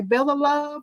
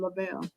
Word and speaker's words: Lavelle: Because a lot of people say Bella Love, they mispronounce it. But it's my dad's first name, Lavelle.